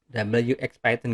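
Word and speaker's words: wxPython: Ada WX Python, WX Python gitu ya kalau bacanya, PyGTK, kemudian PyGObject, kemudian PyQt, kemudian ada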